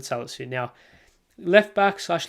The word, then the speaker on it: Salisu: That's how you pronounce his name, Mohamed Salisu.